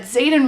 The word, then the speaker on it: Xaden: away from Zaden Ryerson Zaden is spelled with an ax the air rushes from